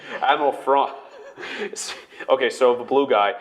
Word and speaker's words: Thrawn: Which and maybe keeping some stuff for the Rebels show, for bringing Admiral Thrawn. It's a friggin' Canadian accent, can't pronounce TH. Admiral Thrawn.